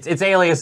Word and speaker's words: Alia: Or sorry, it's Alias V. I'm so terrible at pronouncing her name. I believe it's pronounced Alia. Alia, okay, that's great. Good. I've always just referred to her as Alias, and she's terrific.